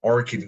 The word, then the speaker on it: orchid: Okay, when we have a CHI, it's like a K sound, orchid garden.